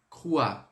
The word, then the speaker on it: crois: Então, quando a gente trabalhar esse je crois, sonzinho de UA. Je crois, crois, tá? E o S sempre muet. On va pas prononcer. Então, a gente não vai pronunciar o S.